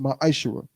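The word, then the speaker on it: מעשר: It means 10th in Hebrew, and is pronounced Ma'ashera.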